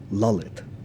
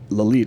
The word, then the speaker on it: Lalit: My name is apparently pronounced properly lit. Oh, okay. In that way. Yeah, I identify with it obviously because I lived there for 5 years. But like lolite, I respond because my